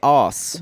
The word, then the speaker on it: arse: You don't say arse. You say os.